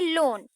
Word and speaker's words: lone: उसी तरह पोएट पूछ रहे हैं डन, DONE डन, GONE गॉन गॉन, और वहीं पे LONE लोन। तो इन सब के वर्ड्स भी लास्ट के सेम ही है, लेटर सेम है, अल्फाबेट सेम है, लेकिन फिर भी इन तीनों का प्रोनाउंसिएशन जो है वो बिल्कुल अलग है।